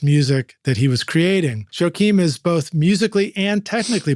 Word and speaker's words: Joakeem: Please tell me I pronounced your name correctly too. Oh yeah, Jaokeem, you got it.